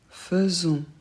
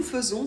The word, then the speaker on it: faisons: vous intéresse ici nous faisons c'est une exception on le prononce donc e le truc c'est que